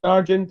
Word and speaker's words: Sargent: it is well it's it's spelled differently so no no no i was on my father's side uh s-a-r-g-e-n-t which is i think from england i'm not mistaken uh but yeah it sounds like a military name and i got i got a lot of grief for that as a child a lot because you know most people don't know how to spell it anyway but it sounds exactly the same so so no kids